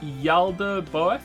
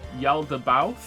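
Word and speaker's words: Yaldabaoth: vods by the way tip on how to say my name it's yalda both bow as in to bow oh bow yelled about yelled about is that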